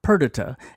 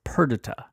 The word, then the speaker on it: Perdita: By the way, looking at the iambic pentameter, I believe the correct way of pronouncing the baby's name is Perdita, is counted lost forever Perdita. If it's Perdita, it follows up the meter.